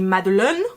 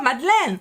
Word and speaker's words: madeleine: someone came to me in the supermarket and said when can i found the madolene i probably wouldn't understand what they're saying they would have to repeat it a couple of times before i'm like oh madeleine and i don't quite understand why he went madolyn because there is the s sound in thai it might be slightly different to the s sound in french so here i think